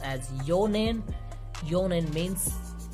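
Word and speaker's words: 四年: So these would be pronounced as yonen.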